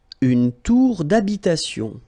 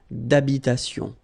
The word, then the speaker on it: d'habitation: Une tour d'habitation. Remember, H doesn't exist in French, well, in most of the cases, so it does mean that you don't pronounce it, all right? So, d'habitation.